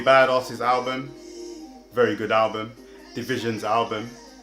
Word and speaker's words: DVSN: Division's album. I know Division, you might have seen DVSN, but it's Division.